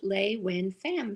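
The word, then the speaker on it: LeUyen Pham: it's spelled the bottom one is how it's pronounced in english lay win fam very simple this is dean that's me and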